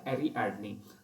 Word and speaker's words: Ariadne: है तो एरी एडनी actually pronunciation इसका एरीडनी तो एरी एडनी एक्चुअली ये हमारा जो